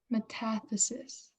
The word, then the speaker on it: metathesis: letters in a word metathesis am I saying it right yes m e t a